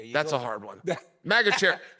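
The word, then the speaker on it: Magomedsharipov: that's a hard one Mago Cherry Mago Cherry not like fruit Cherry yeah megaera mag sha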